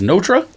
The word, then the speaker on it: Notre: how you say it i thought it was noter it's notra is it i i have